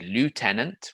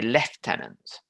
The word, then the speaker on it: lieutenant: irregular pronunciations for example in french we might say lieutenant with the spelling lieutenant but in english a lot of people say lieutenant that's just something that came about over time and with changes